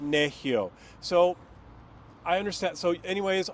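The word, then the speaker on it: Nehiyaw: People would pronounce it Nahiya, which means Cree person, but it actually is pronounced Nehio.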